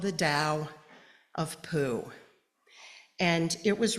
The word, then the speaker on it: Tao: Those words, Tao and Day, can either be spelled T-A-O or T-E, or they can be spelled D-A-O-D-E, both pronounced to the Western ear with a T sound.